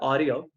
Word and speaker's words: Arria: This is a custom visual called Aria, which is spelled Arria.